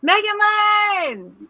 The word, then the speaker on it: Megamind: Isn't it pronounced Megamind?